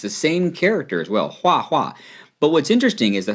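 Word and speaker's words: 画画: Anyway, the next word that we want to 介绍 is 画画. That's H-U-A, fourth tone. H-U-A, fourth tone. It's the same character as well, 画画.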